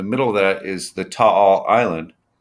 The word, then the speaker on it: Taal: There's the Taal, Taal, Taal. That's how you That's pronounce it.